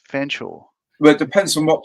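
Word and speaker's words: Fetherstonhaugh: Pronounced Chumley and uh oh oh featherstone pronounced Fansaw. Well, it depends on what part of the family. Some of them call it Fanshaw and some of them call it Feston.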